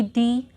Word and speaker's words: the: की, तो इसके आगे द आएगा, द ceiling, and pronounce will not बी दी, it would be द, because द next word to द article is not start with any vowel.